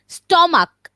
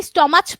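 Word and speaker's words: stomach: যে লেখা আছে স্টমাক, শেষে আছে সিএইচ, কিন্তু এটার উচ্চারণটা হচ্ছে কি এর মতো, ক এর মতো। আমরা কি স্টমাচ বলি?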